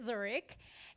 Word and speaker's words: Zurich: I finally learned how to say it, Zurich.